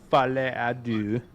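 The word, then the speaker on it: Folie à Deux: this Friday, we are gonna review Joker 2, Fale à Deux. That's how you pronounce it.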